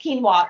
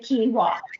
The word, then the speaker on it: quinoa: we're gonna make quinoa so quinoa it is pronounced quinoa like I pronounce 99 of words wrong but this is how you say quinoa it's taken me forever so um quinoa is